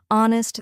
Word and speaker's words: honest: the K is silent honest the H is silent and Castle the t